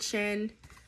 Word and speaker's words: Shein: Okay, so my secret to lashes is Shein. Some people pronounce it Shin. I pronounce it Shein.